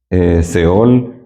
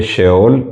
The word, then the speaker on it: Sheol: Ya hemos escuchado las palabras Seol, que también ustedes lo van a encontrar como Sheol, pero es Seol en hebreo. Se escribe Sheol y se dice Seol en hebreo.